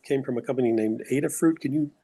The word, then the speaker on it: Adafruit: For the electronics, you said it came from a company named Adafruit. Can you spell that?